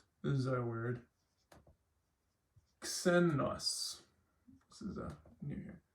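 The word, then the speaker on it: ξένος: So it's not xenos because it's at the front of the word. It's still xenos. So you want to pronounce the K sound and the S sound together always.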